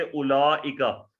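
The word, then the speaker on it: أولئك: जैसे उलाइका, उलाइका में वाव जो है ये बेसिकली लिखी जाती है, लेकिन ये हम इसको प्रोनाउंस नहीं करते, हम हमजा के ऊपर जो पेश है उसको प्रोनाउंस करते हैं।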